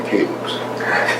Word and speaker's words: Caleb: But I haven't met too many Calebs. Guys, how's it pronounced?